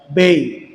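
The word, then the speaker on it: Bey: Kitabnya tebal ya, kira-kira 300-an halaman yang ditulis oleh Syekh Khudori Bik Bik itu kalau ditulis bahasa Arab itu ya tulisannya ya ba dan kaf. Dan nanti kalau di Turki bacanya menjadi apa? Bay.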